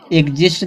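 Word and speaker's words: exist: फिर दिया इसी तरह से एग्जिस्ट दिया है, तो ई एक्स आया है, तो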